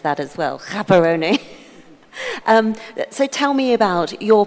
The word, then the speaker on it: Gaborone: From an operations side, you're at the helm of one of the premier mice places in Gaborone. Hold on, I've mispronounced that as well. Gaborone.